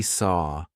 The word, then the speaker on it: saw: Now that looks like ow. A lot of my students go saw or saw. I hear a lot of saw, but it's not. It should rhyme with door, door, and zaw, and war should all rhyme. They should all rhyme, so make sure it's like a forward or sound.